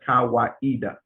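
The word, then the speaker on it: Kawaida: kiswahili word meaning tradition and reason it is pronounced as kawaiida he defines kaweda as a communitarian african philosophy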